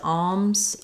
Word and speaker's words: alms: does it have oh does alms have the silent L yeah you can say it as alms um that's you know some people say alms like these more of an ah sound um alms for the